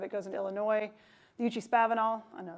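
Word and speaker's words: Eucha-Spavinaw: The Uchee-Spavinal, I know it's pronounced that way.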